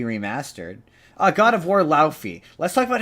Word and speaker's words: Laufey: Like, the logo, the word, by the way, it's pronounced Laufey.